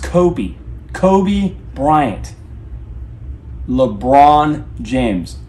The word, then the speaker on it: Kobe: It's pronounced Kobe. Kobe Bryant. LeBron James. Not Kofi and LeBron.